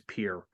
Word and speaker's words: Pierre: so well just like just like Pierre is here it's Pierre yeah and I said Pierre and I'm thinking I'm thinking oh he said Pierre but and you know what I am this much old when I realized it was pure I have never called